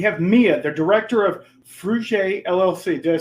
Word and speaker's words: Fruge: Today we have Mia, the director of Fruge LLC.